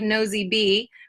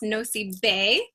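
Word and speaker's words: Nosy Be: on here it's called no it looks like nosey B but it's actually pronounced no C Bay which means Big Island even though it's really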